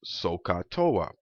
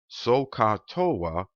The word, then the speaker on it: SOHCAHTOA: track of this uh the mnemonic device is socatoa similar to pemdas for our order of operation p-e-m-d-a-s where each letter stands for one of the different operations sohcahtoa is similar in the sense so the sole